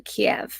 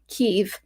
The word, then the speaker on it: Kiev: heard that pronunciation too kiev not keiv it was kiev the the russian thing